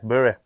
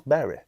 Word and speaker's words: Bury: Bury, you tell me how it's pronounced cuz I keep getting told it's all right, it's Bury. No, it's Berry.